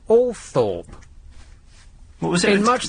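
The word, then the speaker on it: Althorp: know the nonuse yeah why is a l t h o r p all thr it's TCH it isn't it's all Thorp what was it in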